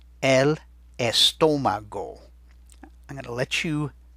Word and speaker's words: estómago: In Spanish, the word is el estómago. El estómago. I'm going to let you spell it, and then we'll listen for where to put that accent. El estómago.